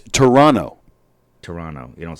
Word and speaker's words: Toronto: was some Canadian DJ who informed him it's Toronto Toronto you don't say the T you the t is silent and sure enough then Dennis elses and